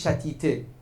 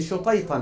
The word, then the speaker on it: Shutayta: Si vous partez à Nayshabour, cherchez maqam, mais eux, les persophones, ils disent chatité. Mais c'est pas bon, ils prononcent comme ça, chatité. Mais c'est Shutayta normalement.